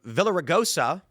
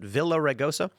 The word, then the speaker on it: Villaraigosa: Meanwhile, LA Mayor uh Villa Villaraigosa, is that how you pronounce it? Villaraigosa?